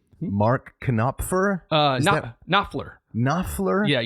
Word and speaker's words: Knopfler: Yeah, you you ignore the K. There's a K? There's a K. And an N? Yes. O P F L? Yes. E R. So, there's a lot you have to ignore in there.